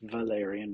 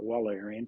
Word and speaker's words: Wallerian: called Valerian or it's it should be pronounced Valerian not wallerian because it's a German or Austrian name degeneration but just remember